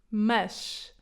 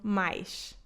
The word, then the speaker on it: mas: Mas. Ao contrário do português brasileiro, esta palavra é dita como mas em português europeu e não mais, ok? O S final lê-se como sh.